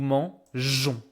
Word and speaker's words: mangeons: We add E so we can pronounce it nous mangeons. Okay. Don't try to make any kind of funny pronunciation here. I know it looks strange, but this is just jon.